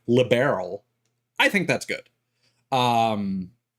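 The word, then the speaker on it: Liberl: Uh, it's an awkward word to pronounce in English regardless, but making it like a gemstone, like barrel, like liberal, I think that's good.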